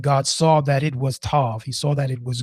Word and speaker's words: tov: I want to talk about spend some time on that one Hebrew word, tov. It's three letters, t o or t u v or t o v and it means it's